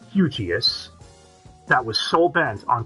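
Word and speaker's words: Hugeass: organization known as hugias h-u-g-e-a-s-s all one word pronounced eugeous that was so bent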